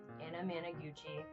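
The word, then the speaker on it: Anamanaguchi: Anamaguchi. Uh literally it's spelled exactly how it sounds.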